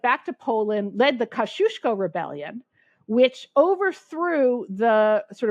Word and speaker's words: Kosciuszko: to pronounce it U my polish friends tell me it's pronounced kushko but people say the kuso bridge the kashius bridge so you hear